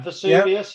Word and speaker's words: Vesuvius: to do my um to make a pronunciation of this vesuvius vs vs is that the right way you say it pete yeah vesuvius yeah so it's a molten